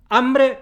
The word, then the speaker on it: hambre: es lo que pronunciamos hambre se escribe con h pero en la pronunciación eso empieza con a tónica exactamente igual que águila o arma porque la h no suena y tenemos más trabajo